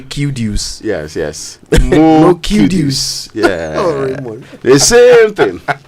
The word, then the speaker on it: Kudus: more kudus it's Kudos even the footballers name too Kudos oh but his is kudus kud please let's you want to say kudus yes yes the same